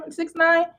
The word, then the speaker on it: 6ix9ine: 6ix9ine.